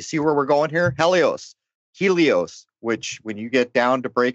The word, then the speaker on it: Helios: You could say it's heli or Eli, like elites, like Helios, because the Greeks don't pronounce that H. It's Helios. It's hell.